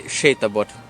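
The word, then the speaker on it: sétabot: that's right you sh you say shabot so working s in Hungarian is shabot I'm working in a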